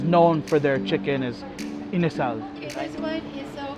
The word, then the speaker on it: inasal: Chicken inasal.